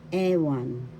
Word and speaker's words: ewan: Ewan, ewan, that means I don't know. First syllable second syllable one. The first syllable has the accent ewan, I don't know.